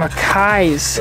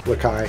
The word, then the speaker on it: Lakai: Some Akais. Is that how you say it? Akai? Yeah. Lakai.